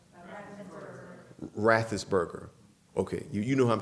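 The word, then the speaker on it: Raffensperger: How's it pronounced? Rathesberger.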